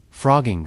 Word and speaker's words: phrogging: Frogging sounds like a joke when you first hear it. It is spelled with a ph instead of an f, like some underground hacker term.